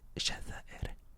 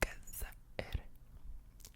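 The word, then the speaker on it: الجزائر: So in Egypt, they don't say Jazair, they say Gazair.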